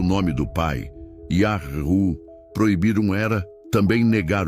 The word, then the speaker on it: Yahweh: É Yahru, Yahweh, Jeová? A resposta mais coerente, segundo os textos hebraicos, nomes compostos e manuscritos antigos, aponta para a forma Yahru, presente em nomes como Eliyahu, Elias, Irmeiahu, Jeremias, Obadiahu, Obadias, entre outros.